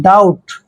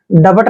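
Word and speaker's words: doubt: ओ यू बी टी जब भी टी से पहले बी तो बी का जो उच्चारण है वह हमने नहीं करना है वहा बी साइलेंट होता है तो देखिए डी का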